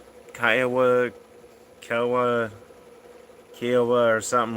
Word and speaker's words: Kiowa: or three Kiowa Kawa Kiwa which is right because I don't want to um pronounce it wrong well I don't know if I'm first time you said it was correct Kiowa all right but uh